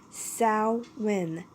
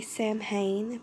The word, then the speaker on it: Samhain: a brief history of salmon with the proper pronunciation of salmon it is Sal when some people say Samhain but it is actually salmon just gonna let